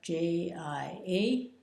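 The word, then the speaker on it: 家: a pig here CH pronounced j i a in the first tone run is man and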